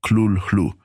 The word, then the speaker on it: Cthulhu: Sin embargo, para aquellos que deseen aproximarse a una pronunciación, podría sugerir algo como Clul-Hlu, con una C gutural y un sonido difícil de replicar en cualquier idioma humano.